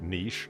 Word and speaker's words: niche: Yeah, it's just, you know, like niche, like in a wall. Niche. Yeah. Lots of people pronounce it niche. Yeah, because it's Niche.